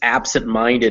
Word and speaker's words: absent-minded: instance the reason it's absent-minded it's on ab and mind is because absent-minded is a compound word it's made of two words absent and minded and so both those words take the traditional english stress on the first syllable okay i understand and then when you put them together both those shrill syllables want to be stressed but only one of them wins in the end in this case minded wins and the reason is